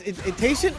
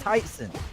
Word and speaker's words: Tyson: It's Tayson. It's Tayson, right? No, it's Tyson. Tyson.